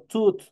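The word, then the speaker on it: tooth: yo hablo de diente yo digo tut tut es singular mientras yo quiero decir dientes yo digo tit Che es plural Entonces ya saben ustedes tut para el singular Che para el plural esta doble o igual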